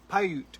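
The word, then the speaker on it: Paiute: And we are on um how do you pronounce it? Pyute land. Pyute. Pyute.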